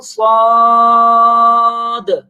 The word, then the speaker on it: صاد: دیکھیے صاد کو دیکھنے میں تو دال ہمیں کہیں نظر نہیں آ رہی, تو لیکن جب ہم تلفظ کرتے ہیں صاد کو تو تلفظ میں 3 حروف آ رہے ہوتے ہیں.